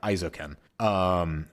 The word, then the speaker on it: Isekai: And then we also watched Hands Off Isekai. Hang on. I wrote it down. Did I pronounce that right? Yeah, Isekai.